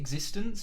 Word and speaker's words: x6tence: Do I pronounce it x6tence?